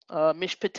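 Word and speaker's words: מִשְׁפָּט: preceded by the short vowel patek and therefore is silent right let's look at another example mishpat a mish potato judgments of right judgments uh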